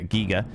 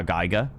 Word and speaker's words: Giger: I've always heard it HR Geiger. But yeah, today we learned. Today we apparently he's done interviews and stuff where it's been like giger to rhyme with eager.